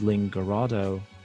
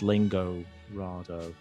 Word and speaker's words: Lingorado: this website link Arado I guess it's pronounced as Linga Rado like El Dorado not lingo rather so however you like